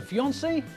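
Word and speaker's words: fiancée: the woman is a fiancee and what about the man well a man who's engaged is a fiancee yes rather strangely there's no difference in pronunciation only in spelling so when people become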